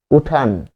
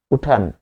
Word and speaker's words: উঠান: আন প্রত্যয় যেমন তাকান উঠান উঠ যোগ আন উঠান সেখানে আপনি কি পাবেন আন প্রত্যয় থাকার কারণে আনও হবে উঠানো উচ্চারণটা কি? উঠানো। পাশাপাশি আমরা যদি ত এবং